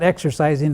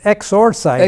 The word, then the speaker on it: exorcising: It's not exercising, it's exorcising. Exorcising, yes.